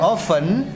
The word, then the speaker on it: often: Jangan ragu-ragu, nggak usah pakai T. Often. Often. Kalau yang pemanggang itu oven. Oven. Ya kalau nggak percaya nanti cek di ini Google Translate ya. Often. Often gitu ya. T-nya hilang.